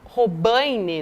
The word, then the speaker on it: Robaine: Um militante agride um dirigente do partido chamado Robaine, né, Lu? Essa é a pronúncia correta ali do nome dele.